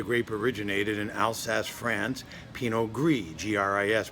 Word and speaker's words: Pinot Gris: from where the grape originated in Alsace, France, Pinot Gris, Gris, pronounced Gris.